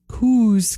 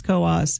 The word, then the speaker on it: Coos: bnap straford and Coos it's not K County it's Coos uh commandment number four